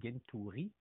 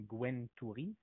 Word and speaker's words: Gentouri: Ça, c'est mon nom de famille, Gentouri. Gentouri, oui. Comme ça vous le prononcez. Exact, exact. Il y en a qui vont le prononcer comme Gwentouri.